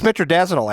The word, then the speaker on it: metronidazole: Smith and Foster that had the metronidazole in it? You guys are so good at pronouncing all these names. It's metronidazole, assholes.